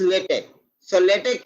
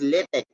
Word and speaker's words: LaTeX: so first what is latex is a document preparation system for producing high quality documents the current pronunciation is lit it is not latex or latex it is lithic and in writing healthcare